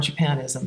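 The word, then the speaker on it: Japonisme: Actually, at one time I was making a color palette for layout, and it was on Japanism. So Japanism, actually, the French way of pronouncing it.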